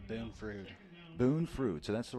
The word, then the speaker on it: Boone Frood: Boone Frood.